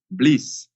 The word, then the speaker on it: BLEASS: Bleus black blasts pleeeease so first it's pronounced bliss which is kind of